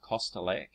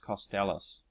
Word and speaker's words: Kostelac: apparently Eagle's surname was pronouncing it I was pronouncing it costc earlier uh apparently it is pronounced costalis um I'm taking that uh pronunciation from what